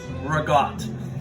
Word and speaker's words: ricotta: York, Connecticut, New Jersey, we don't say ricotta, we say ragout. And listen, you should say ragout too. You know, there's no cultural appropriation. There's no geographic appropriation. That's just how you say it.